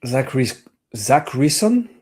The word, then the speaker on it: Zackrison: Eric Zackrison. Am I pronouncing that properly? Yeah.